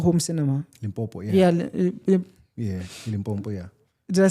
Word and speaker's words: Limpopo: Yeah, Limpopo, yeah.